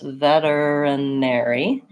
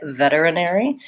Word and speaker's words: veterinary: me as well again first syllable stress veterinary veterinary and I would say that sometimes we leave out this a it's acceptable to say it veterinary but I do think Americans will sometimes say veterinary and they'll kind of basically leave that one syllable out and reduce it